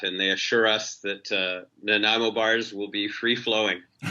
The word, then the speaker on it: Nanaimo: Nanaimo? Nanaimo bars. Nanaimo bars. That's Nanaimo, the deal breaker or deal maker right there. Yes, no, we've talked to the venue about that, and they assure us that Nanaimo bars will be free flowing.